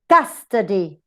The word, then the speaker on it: custody: So, for example, quantity, t, schwa, weak, t, neutrally weak. Custody, custody, the same example. Emperor, emperor. Enmity, enmity. So we tend to use it, we use it in the first syllable if the rest are weak.